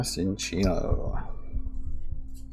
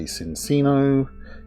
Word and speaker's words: Cinccino: So water, potion, Rhydon, Eldegoss, Vulpix, Nickit, Baltoy, Chinchou, Krabby, Reverse Galarian Linoon, and a Cinccino. Never know how to pronounce. So I've seen people say Cincino, Chinchino, Cinccino.